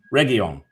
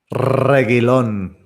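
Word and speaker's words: Reguilón: There's just one player I'm probably going to mention, and I'm probably going to say it wrong. Reguilon, or as Gabe says, Reguilon. There we go. That's how you say it properly.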